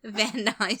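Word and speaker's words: Van Nuys: weird and it's crazy we are NY with a knee van ni California v a n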